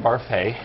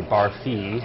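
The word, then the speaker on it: Barfée: I play William Barfay, and people in the show constantly mispronounce my name. They say Barfee, and I get very upset by it.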